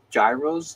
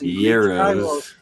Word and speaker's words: gyros: I hope I'm pronouncing this right. Gyros? Gyros? Euros. Yeah. So my whole life I've been pronouncing it wrong because I've been thinking of it like a gyro. So that's what I do. Yeah, like a gyroscope.